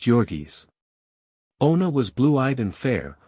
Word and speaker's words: Jurgis: with the mighty shoulders and the giant hands pronounced joris Ona was blue-eyed and fair while jurgis had